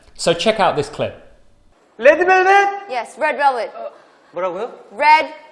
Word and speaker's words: Red Velvet: From Wendy, we are learning the pronunciation of V. Now, I did a video on this recently, and this clip just shows how important V is and how English learners can sometimes struggle. Wendy pronounces it so naturally, she doesn't even think about it. But the top teeth touch the bottom lip and the air is able to move out.